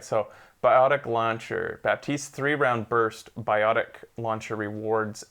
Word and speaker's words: Baptiste: Apparently the P is silent. Batiste? I guess so. Fuck off, it's Baptiste.